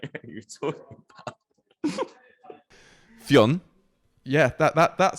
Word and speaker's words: Fionn: Aussie stadium announcers, Caribbean commentators, and the whole shebang in between have been saying his name as 2 syllables, and I'd love to hear one person just say Fionn properly.